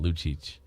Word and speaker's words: Lucic: Yeah, but it's not how it's pronounced. It's Milan Lucic.